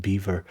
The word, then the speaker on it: Belvoir: I believe like this one is also sometimes pronounced um Belvoir pronounced beaver.